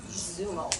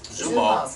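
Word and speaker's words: Xumo: another piece of equipment called Zumo Zumo spelled with a x with an x x u m o that apparently bends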